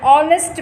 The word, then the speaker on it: honest: An is also used before words beginning with H when the H is not pronounced, that is, when H is silent. For example, an honest man, an honorable man.